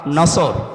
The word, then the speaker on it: নাসর: এই জন্য যারা এই সূরাটা পড়তে গিয়ে সোয়াদ না বলে সিন দিয়ে উচ্চারণ করেন, আপনার কিন্তু নামাজ হবে না।